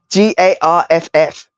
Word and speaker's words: Garth: As it, yeah, Garff. Garth. You don't deserve the th. Literally, You're I'm not getting even you're joking. getting the That's f. literally they only pronounce the th when they're really mad.